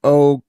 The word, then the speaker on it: Okwanu: It's O, then it's Quan, then it's U. Okwanu. It doesn't phonetically doesn't look like that.